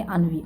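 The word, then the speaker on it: ennui: इसको प्रोनाउंस करेंगे अनवी।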